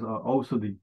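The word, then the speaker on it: औषधि: Yeah, in Nepali, we pronounce it as ausadhi.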